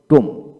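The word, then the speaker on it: tomb: বি একসাথে থাকলে এবং বি এর পরে কোন ভাওয়েল না থাকলে বি এর উচ্চারণ বিশেষ করে হয় না লক্ষ্য করেন আবার বলবো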